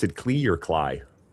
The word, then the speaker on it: CLI: You pronounce the capital words. It's not cali or mcp.